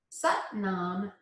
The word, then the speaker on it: Sat Nam: So Sat Nam rhymes with but mom. Sat Nam means I am truth.